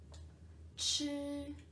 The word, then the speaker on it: 吃: Chi, chi. Remember we learned the overall recognition syllables. Zhi, chi, shi, r, right? So chi here, with the first tone, it means eat.